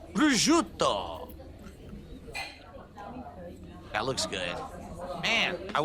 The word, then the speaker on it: Brut: asparagus with a crisp Brut that's how you pronounce that it's Brut that looks good man I want to eat